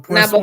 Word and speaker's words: poisson: I love that because in fact it's poisson. When it's double S, it's son, and when it one S is like as a Z, like poison. So Now, poisson is a fish, and before I poison is run a real quick, poison.